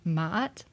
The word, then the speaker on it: Ma'at: This is an Ein. So again, it's just complementing the Ma'a that we already had. And then we have a T. Again, the feminine ending. In this case, making the word Ma'at.